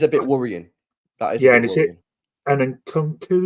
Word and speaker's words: Nkunku: And then Nkunku, is that how you pronounce it? I'm sorry if I've mispronounced. No, that's how you say his name.